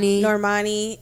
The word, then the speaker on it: Normani: We have like Normani. Is that how you say her name? Yeah. Mm-hmm. Normani.